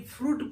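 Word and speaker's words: fruit: आई silent होता है एफ आर यू आई टी फ्रूट पढ़ते हैं आई साइलेंट होता है ऐसे ही बी यू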